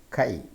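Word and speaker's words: χ: by the letter k how can you pronounce this letter Kai then the last one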